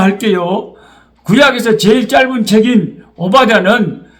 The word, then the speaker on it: 오바댜: 식구들이 저는 너무 귀합니다 오바댜 발음이 오 바다가 아니고 대하니까 오바댜 바르마이가 조금 쉽지 않습니다마는